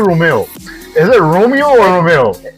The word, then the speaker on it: Romeo: Is it Romeo or Romeo? Well, I mean, people pronounce both, but it's Romeo. It's Romeo. Yeah, okay. Like Romeo and Juliet.